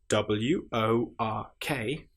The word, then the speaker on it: work: Just to point out at this stage if you have w o r k that is pronounced work because English is so annoying.